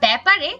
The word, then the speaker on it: ব্যাপার: উচ্চারণ করি বলি জ্ঞান একইভাবে আমরা ব্যাপারে ব এর সাথে জ ফলা যুক্ত রয়েছে সেটাকে আমরা উচ্চারণ করি ব্যাপার এরপরে আমরা দেখি বাংলা